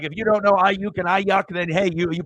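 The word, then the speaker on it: Aiyuk: And it's Ayuk, or he doesn't even know how to like.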